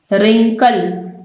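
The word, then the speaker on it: wrinkle: रिंकल, हम इसको रिंकल नहीं पढ़ रहे, डब्ल्यू इसमें साइलेंट है।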